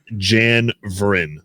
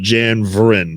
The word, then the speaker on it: Janvrin: Jan and then Vrin. So like a vroom. Yeah, like a vroom with a car, but Janvrin, yes.